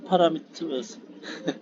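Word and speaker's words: parameter: 음, 제목이 패스 파라미터, 원래 영어 발음이 파라미터가 아니고, 네, 영어로 발음을 하는 경우에는 퍼레미터거든요.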